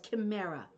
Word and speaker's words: Chimera: designs it's called Chimera the CH is pronounced K okay so it's called Chimera thank you you see